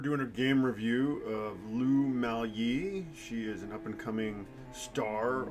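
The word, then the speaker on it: Lu Miaoyi: Lou Mal Yee. Lou Mal Yee.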